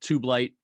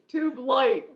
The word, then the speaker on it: Tubelite: for all yeah it's it's uh two syllables how's that it's too blight but yeah it it's